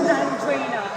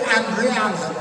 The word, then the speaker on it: Andrina: just now what is andrina andrina I had no idea that was how you pronounce it I was going to call it andreana it's and yeah it's